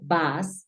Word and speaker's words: bus: Caja tenemos bus que en inglés se pronuncia bas Mira es una u suena bas Entonces se significa lo